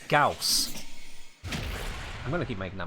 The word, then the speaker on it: Gauss: the fastest very far even vault can outrun gors so or scouse i gotta get used to saying it correctly it's gauss i'm gonna keep making a mistake i've been